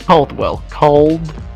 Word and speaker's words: Caldwell: Today, I am joined by Captain Caldwell, the leader of the Imperium of Expanse. Did I say that right? No, what is it? Caldwell.